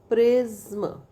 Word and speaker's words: prism: There are also rare words like प्रिज्म and dirndl that have only one vowel but are pronounced with two syllables. Prism. अब देखो प्रिज्म, है ना. तो प्रिज्म, how. Okay. Two syllable.